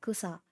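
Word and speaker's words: 草: And um and the word that and how we pronounce it is like kusa.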